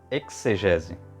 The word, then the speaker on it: exegese: Outros minuciosos defendem a fala como exegese, né, com fonema KS. Como falamos, latex, nexo, ortodoxo, tóxico, tem outras palavras também,